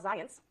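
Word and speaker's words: Zajonc: Along comes Bob Zients, rhymes with science.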